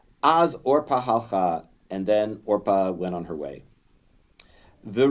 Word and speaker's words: Orpah: version of truth so Orpah is how that's pronounced or Pavo root Kaoru the